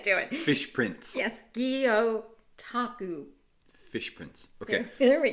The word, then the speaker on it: Gyotaku: So now let's see if I can pronounce this. Gyotaku. No. Close it up. Gyotaku. I can't do it. Fish prints. Yes, Gyotaku.